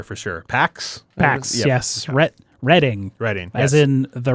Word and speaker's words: Reading: who said reading market, but it's pronounced like he was reading a book. Reading. But he pronounced it like he was reading a book. It's actually Reading.